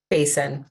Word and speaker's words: Basin: pronounce your last name Basin like Facebook yeah um we're gonna